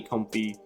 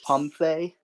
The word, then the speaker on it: Comfey: a nice and shiny comfy And that Artisan is going to grab us a nice and shiny Pidgey next turn, which is pretty nice. Actually, it's pronounced Comfey.